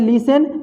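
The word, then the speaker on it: listen: जैसे यहाँ पे देख लीजिए, शब्द के आखिर में है TEN तो इसमें T साइलेंट है। इसको पढ़ते हैं लिसन।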